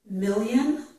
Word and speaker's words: million: The letter I can make the Y sound, as in the word million. This is Y, million. Yeah, million, onion, yun, ein, yeah, yun, onion.